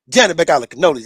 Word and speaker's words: Janibek Alimkhanuly: My man Janibek Alimkhanuly. Did I say it right? Good job, man.